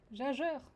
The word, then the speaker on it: Gagger: Le G se prononce J. Jageur.